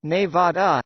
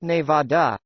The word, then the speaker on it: Nevada: The state is pronounced Nevada, not Nevada, according to locals.